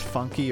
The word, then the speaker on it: FUNKe: Is it pronounced funky or funk? It's pronounced funk. The emphasis is on the F, actually. Funk. Like, imagine you're saying my name, but you got kicked in the gut right as you started saying it.